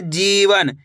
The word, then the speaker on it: जीवन: अब आगे देखिए, जीवन। कैसे पढ़ेंगे, जीवन। जी पे जोर लगाना है, जी वन, तो मिलके बन जाएगा जीवन।